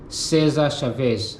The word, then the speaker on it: Cesar Chavez: He was advocating uh Chavez full name he was um Cesar Chavez. That's how you pronounce his name. Caesar Chavez.